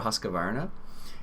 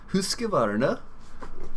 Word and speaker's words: Husqvarna: This U actually has, I think it's like 2 dots on it, and it's not Husk, it's Husk. Husqvarna. Husqvarna. It's a weird sound.